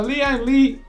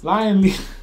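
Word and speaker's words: Lian Li: And I have a Leon Lee, how do you say it? Lion Lee.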